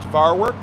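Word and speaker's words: Vaarwerk: Uh, just for the chroma keys, my name is spelled T O D V in Victor, A A R W E R K, pronounced Varwork.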